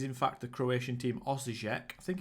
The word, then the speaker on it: Osijek: It is, in fact, the Croatian team Osijek. I think it's Osijek.